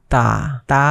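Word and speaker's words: ت: লিখবো তো এটা হল তা উচ্চারণ করার সময় এই জিহ্বাটা একটু সামনের দাঁতের উপরের দিকে পাটিতে লাগবে যেমন তা ঠিক আছে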